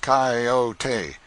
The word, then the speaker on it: coyote: this latter was the regular coyote pronounced coyote of the farther deserts and